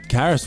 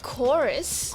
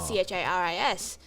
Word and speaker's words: Charis: is spelt c-h-a-r-i-s yep which you must get a lot of interesting pronunciations yes is that correct any really interesting ones or is it mainly just charis and carys i once got chorus chorus yes that happened because